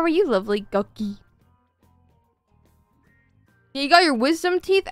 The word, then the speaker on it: Guqqie: What is the right way to pronounce Guqqie? Like that. It's like Ducky, but with a G.